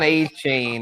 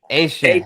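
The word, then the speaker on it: Etienne: The new pronunciation, yes, not Devon A-Chain. This is Travis Asian. ATN. Yeah, or ATN for those. I put it on the ticker. I know. ATN at 17. Yeah, for sure. Asian. Yes, the Cajun pronunciation, the Cajun French way.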